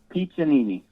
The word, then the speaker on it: Piccininni: Now, can you pronounce that for me? Piccininni.